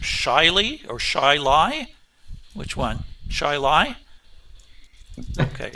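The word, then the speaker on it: Chili: C H I L I Chile, as I would pronounce it, is actually pronounced Shily or Shili." Which one? Shili. Okay. Shy lie.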